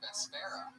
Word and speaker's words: Vespera: Everything with me is very hard to pronounce. My name, my band name, it's wonderful. So it's V-E-S-P-A... P-E-R-A. P-E-R-A. Oh, Vespera.